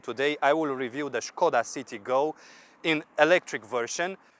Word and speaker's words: Škoda: in czech republic because the skoda name is a czech name so you saw that that s has a hat over it so it is because